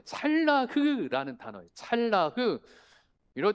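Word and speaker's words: צלח: 모양은 다음 피 형통한 할 때 찰라흐라는 단어예요. 찰라흐 이럴 때 한 마디라도 좀 원어 좀 배우면 좋죠. 원어 뭐 발음이 찰라흐 한번 해 보실까? 발음도 어렵죠. 시작. 잘라흐.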